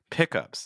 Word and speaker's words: pickup: like a truck so with nouns you usually stress the first part she was losing some of her old pepper open pick up too so you can hear that again on pickups that's again another example